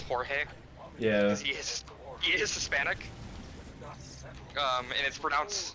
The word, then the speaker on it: Jorge: should probably be pronounced Jorge yeah he is Hispanic um and it's pronounced and it's spelled you know j-o-r-g-e yeah it's spelled like Jorge but it's pronounced George one of the Traders